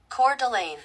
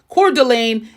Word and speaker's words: Coeur d'Alene: And I had to throw this one in the pronunciation Google. Coeur d'Alene. Coeur d'Alene is the third best area to live in.